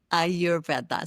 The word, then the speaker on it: Ayurveda: So the first thing that I learned today is really how to pronounce it. So our Ayurveda. Ayurveda.